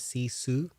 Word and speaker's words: sisu: So it's pronounced as sisu.